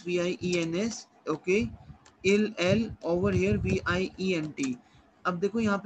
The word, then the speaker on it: vient: Il, over here VIENT. अब देखो यहाँ पे SST कहीं भी प्रोनाउंस नहीं हो रहा।